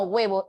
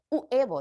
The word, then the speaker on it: huevo: de pronunciar la palabra nadie dice uevo décimo No y esa u sonaría más que todo como una gue no no suena como una u estrictamente entonces ejemplos Como esos